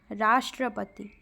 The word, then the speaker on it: राष्ट्रपति: टेट में ठीक है राष्ट्रपति शब्द का उच्चारण करते समय रा पर बल पड़ता है राष्ट्रपति ठीक है रा पर